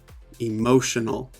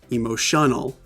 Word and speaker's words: emotional: phonetic spelling so here notice this apostrophe before the mo that shows us that this is the stressed syllable in the word emotional emotional not emotional that would be wrong there I'm stressing this syllable sometimes long words that